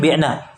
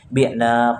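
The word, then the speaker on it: بِعْنَا: Kalau nahnu panjang nunnya, jangan antum baca ini tapi bacanya pendek. Nahnu bi'na nggak boleh, tapi nahnu bi'na panjangkan nunnya.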